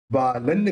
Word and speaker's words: बालं: अब यहाँ पे जो बिंदी है आगे व है, तो वह बोलते समय दोनों होठ मिलेंगे नहीं, तो उसका उच्चारण क्या निकलेगा, न निकलेगा।